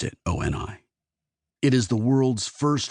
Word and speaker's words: OI: He pronounced it OI.